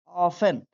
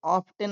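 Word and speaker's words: often: unfortunately, unfortunately he ऑफन, इसे ऑफ्टन नहीं पढ़ेंगे, इसमें टी साइलेंट है, ऑफन स्किप्ड, स्किप्ड देखिए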